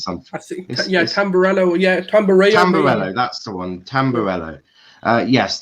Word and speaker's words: Tamburello: It was actually Tamburello? Is that how you pronounce it, Sulz? I think it's something. Tamburello. Yeah, Tamburello.